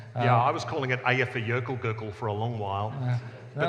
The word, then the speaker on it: Eyjafjallajökull: Richard, I'm sorry, but you've got that slightly wrong. It's Eyjafjallajökull, and then you tried a bit. And I learned it. I spent 3 weeks learning how to say it, and I got it eventually. Eyjafjallajökull. See, that's not quite right.